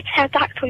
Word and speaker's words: pterodactyl: Why can't you hear a pterodactyl using the bathroom? I don't know. Because the P is silent.